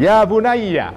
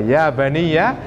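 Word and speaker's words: يا بُنَيَّ: Itu juga banyaknya, bacanya harus hati-hati. Bacanya ya bunayya. Kalau Anda baca ya baniya, artinya wahai anak-anakku dalam bentuk jamak, itu lain lagi, ya.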